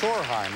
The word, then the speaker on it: Sorheim: And I got the name wrong. In deference to your mother, it's Sorheim, right?